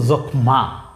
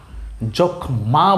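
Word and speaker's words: যক্ষ্মা: এখন এর নিচে যেহেতু ম আছে, তাহলে উচ্চারণ তো হওয়ার কথা ছিল যক্ষমা, তাই না? তাহলে ময়ের উচ্চারণটা ঠিক থাকতো, কিন্তু এখানে আসলে ম আছে ঠিকই, কিন্তু ময়ের কোনো উচ্চারণ হবে না।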